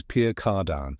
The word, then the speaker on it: Pierre Cardin: the world of fashion Pure Car Dan looks elegant sounds fancy but how do you say it correctly let's find out correct pronunciation is Pier cardan with a soft nasal ending let's break it down